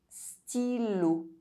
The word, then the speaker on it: stylo: Y is pronounced I when between consonants. Stylo.